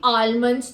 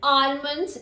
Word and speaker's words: almond: people say I am going to eat five almonds tomorrow morning listen almond is very wrong it is almond I am